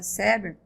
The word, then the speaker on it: Seber: De que quando falamos de Maria da Glória Seber, que eu disse que seja assim que se pronuncia, estamos falando de uma das maiores estudiosas da obra de Piaget.